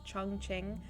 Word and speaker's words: Chongqing: I'm not even joking, it's called Chongqing, but it's, the second part is QING, but it's a ching sound, and I was just like, what?